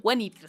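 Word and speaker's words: Guinevere: District y ahorita pues Nice of Wenir, que se pronuncia Wenivir, según Dan en un en una entrevista hace poco.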